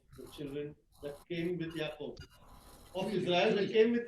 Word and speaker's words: Yaakov: Jay, how do you pronounce that word? Yaakov.